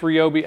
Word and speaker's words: Ryobi: I know it's pronounced Ryobi, I just can't make myself say it.